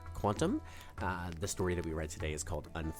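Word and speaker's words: qntm: I recently was informed it's probably pronounced quantum.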